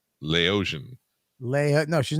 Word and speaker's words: Laotian: hot kelly days and i don't think you're saying it right allow asia no that's not right lao asia no you're just mixing two words hate watching like laos and asia she's lao asian laotian leia no she's not